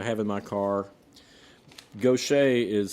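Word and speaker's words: Gauthier: And she pronounces it gocha.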